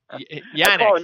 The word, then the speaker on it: Yannick: Yannick.